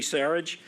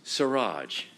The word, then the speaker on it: Siraj: I said it wrong, didn't I, Anthony? I've been telling him all along, the only name I've had trouble with getting prepared for this is his, and it's Siraj, Anthony Siraj, class of 2000, and